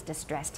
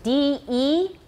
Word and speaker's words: de-stress: Nobody's distressed here. 都很轻松. So it's D-E-S-T-R-E-S-S. De-stress means 原来的中音把它拿掉. Okay, de-stress, not distress.